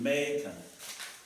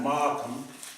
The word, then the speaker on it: Macon: Macon. Not Markham, but they pronounce it Macon.